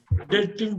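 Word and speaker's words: doubt: படிக்கணும் நோட் பண்ணிக்கோங்க இதை எப்படி படிக்கணும் டெட்ன்னு படிக்கணும் பி இல்லைன்னு நினைச்சுட்டு படிக்கணும் நீங்க அதாவது நீங்க பேசுறப்ப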